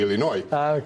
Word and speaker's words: Illinois: illinoi siendo yo de Illinois no se pronuncia la s es un tribu Ah Es un y la s es silente No ya escuchaste Manuel